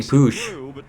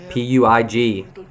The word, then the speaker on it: Puig: and we have Ricky Puig, P-U-I-G. In America, we would pronounce that Pui, but Ricky Puig, young La Masia player, and he's not getting in the top 23 either.